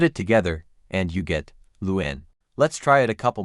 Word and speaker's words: Luan: a couple more times Luen Luen Luen Luen Luen Luen Luen Luen Luen Luen Luen Luen here are some extra tips to nail the pronunciation emphasize the first syllable start strong with L and then gently slide